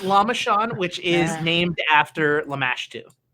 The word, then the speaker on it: Lamashan: october is uh lam lama this is how it's spelled l-a-m-a-s-h-a-n lam lam-mash lamashan islamist john yeah bill it's lama sean which is named after lamash2 okay um so